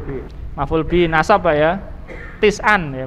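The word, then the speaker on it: تسعًا: Tis'an ya, bacanya tis'an.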